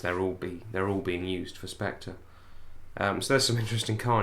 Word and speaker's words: Spectre: Spectre. That's how they say it in the trailer. Unless you're Sean Connery, where it's Spectra.